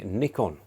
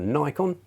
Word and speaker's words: Nikon: to my review of the Nikon or Nikon however you want to pronounce it said six definitely said